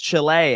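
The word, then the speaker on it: Chili: York what's going on just so you can mispronounce it Chile New York Chile actually it is pronounced Chile as a matter of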